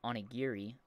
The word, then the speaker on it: onigiri: And I had offered to make some onigiri, I guess is how you'd pronounce that, which is rice balls, for some friends who wanted to try some.